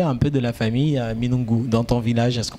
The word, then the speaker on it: Minoungou: peu de la famille Minungu dans ton village? Est-ce qu'on ne t'a pas régné? Non, du tout, parce que en famille, la prononciation reste le même. Ah, on prononce pas le N.